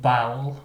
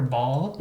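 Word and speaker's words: Baal: actually a frog demon named bow or ball however you want to pronounce it yeah b a a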